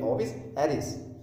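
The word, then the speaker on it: Ovis aries: इसकी pronunciation English में देखें क्या होती है, ओविस एरिस, हिंदी में एराइज लिखा हुआ है पर इसकी प्रोनाउंसिएशन ऐसे होती है ओविस एरिस।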